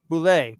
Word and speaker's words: Boulle: Pierre Ah, Boulle wrote wow. Boulet. Boulet is how you Okay.